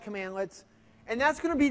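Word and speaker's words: cmdlet: a commandlet right so CMD let we pronounce that commandlets and that's going to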